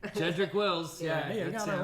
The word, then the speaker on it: Jedrick Wills: Jedrick Wills, Hey, I got it right. He got it right. Yeah, hey. that's it.